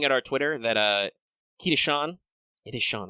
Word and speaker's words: Sean: um if it's as if it's s-e-a-n it's usually sean yes yeah that's well i mean that's how is how is this spelled but yeah um i'm used to reading it okay okay yes it is shawn all right good cool